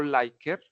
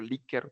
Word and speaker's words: Likert: Esa escala tipo Likert, o Likert también, dependiendo cómo se quiera pronunciar, nos va a ayudar digamos, a analizar de manera cuantitativa la información.